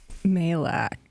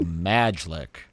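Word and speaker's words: Majlak: How do you say his last name? Malak. Malak. Of course, I do forget that. I look at that word, I go, Majlik.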